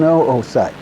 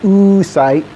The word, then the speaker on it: oocyte: right here that's an oocyte and yes you pronounce both O's don't go around saying ooh site or people will think you're goofy or at least goofier this is a follicle